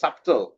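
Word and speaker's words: subtle: silent এইজন্য এটা দেব তারপরে আছে সাটল এটা লেখা আছে সাপটেল তাই না কিন্তু আমাদের পড়তে হবে সাটল সাটল এই বিটা এখানে সাইলেন্ট তারপরে আছে মাসাল মাসেলের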